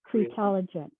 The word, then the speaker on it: CREtelligent: So it's pronounced like creative, right? CREtelligent. CREtelligent.